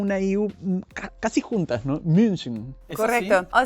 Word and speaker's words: München: Y lo mismo, entonces, por ejemplo, si quieren decir München, Múnich, es muy difícil porque también tiene CH, ¿no? Entonces sería, primero pueden decir mu y luego con esta U forman la boca y dicen I, München.